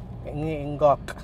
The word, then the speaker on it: Ngoc: Vietnam இங்கெல்லாம் போயிருக்கீங்க, இல்லை இந்த இங்காக் அவர் எப்படி ப்ரொனவுன்ஸ் பண்ணுறது தெரில, நேம் வந்து NGOC அப்படின்னு சொல்லி இருக்கு, நிறைய பேர் காக் காக்னு கூப்பிட்றாங்க, மேபி என் சைலண்டாக இருக்கலாம்.